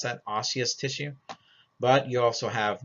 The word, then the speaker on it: osseous: does it have bone tissue we call this osseous tissue it's how you pronounce that osseous tissue but you also have nervous tissue there